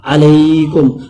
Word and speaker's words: علیکم: السلام علیکم، علیکم علیکم، عربی کا تلفظ جو ہے وہ ہلکی حروف ہے، عین، علیکم، السلام علیکم، وعلیکم السلام،